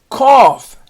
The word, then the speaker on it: cough: won a beautiful trophy now we're going to do the GH that has the F sound and the first one is cough he had it cold